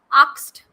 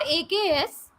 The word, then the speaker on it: asked: Why do we pronounce it as asked? It is not AKS. Why do we pronounce it as asked? It is not asked. It is asked.